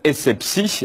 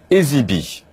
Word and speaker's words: Essebsi: Le président tunisien s'appelle Essebsi, mais Valls prononce Ezibi.